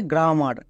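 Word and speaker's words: grammar: তাহলে পুরোটা কি দাঁড়ালো গ্রেমার একে অনেকে উচ্চারণ করতে গিয়ে ভুল করে এর উচ্চারণ করে গ্রামার কিন্তু এর উচ্চারণ হবে গ্রেমার গ্রামার না কিন্তু গ্রেমার নেক্সট লাস্ট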